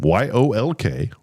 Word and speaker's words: yolk: YOLK. Is it yolk or yolk? I like to say, was I saying yolk? Yeah. Yes. The L is silent.